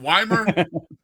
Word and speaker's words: Wimer: Is it Is it Wymer?